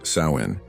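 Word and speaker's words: Samhain: They celebrated a festival called Sam Hine, pronounced Sain.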